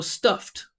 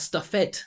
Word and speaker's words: stuffed: So just going to go stuffed. Not stuffet.